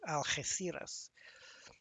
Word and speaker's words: Algeciras: The Alge, and then the C is like a TH, Algeciras.